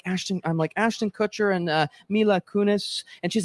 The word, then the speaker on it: Kunis: And Mila Kunis. I always say it wrong. I always want to say Kunis. It's Kunis.